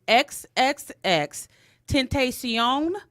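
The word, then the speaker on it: XXXTentacion: But his name is XXX Tentacion.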